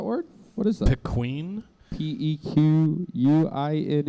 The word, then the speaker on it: pequin: what is that pequeen p e q u i n e u i n u i n p q u i n pin so pequin instead of penguin yeah the pein